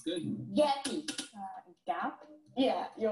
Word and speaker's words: Gap: I think what threw me off was the shadow vowel at the very end. Gappy. Mm-hmm. Yeah. Yeah, because then we have two syllables, right? Gappy, not only one.